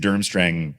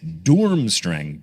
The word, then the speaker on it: Durmstrang: Now, something that I mentioned here and I've been saying durmstrang apparently incorrectly because it says the pronunciation of durmstrang is dormstrang d o o r m strang.